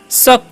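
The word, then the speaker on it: suck: यू सी के तो इसे सुक नहीं पढ़ना है क्या पढ़ना है शक पढ़ना है क्या पढ़ना है शक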